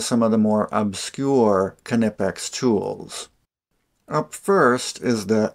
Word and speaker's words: Knipex: Now this video is going to be all about Knipex, and I checked, and that's how it's pronounced, Knipex.